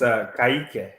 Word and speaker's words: Kike: Kike Cerveni. Is that really how you say his name? No, it's Kaike. Kaike.